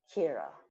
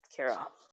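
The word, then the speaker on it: Qi'ra: money, mostly to go back to Corellia because Kira, spelled with a Q, Kira, yes, Kira.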